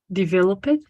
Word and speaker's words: developed: Remember the rule. You only say it only when there's a T or a D before, right? If the verb finishes with D or T, you said it. If not, this is only going to be developed, right? Without the it.